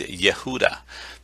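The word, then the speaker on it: יהודה: uh but but the the name judah is yehuda this is the way that you would pronounce it so it is the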